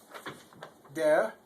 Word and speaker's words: der: Der. Now in America, people like to put a hard R on the end of things like dare, but that isn't dare.